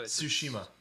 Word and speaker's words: Tsushima: going to try you've got to sort of pronounce the t and the s at the same time so tsushima yeah anyway yeah um that is the best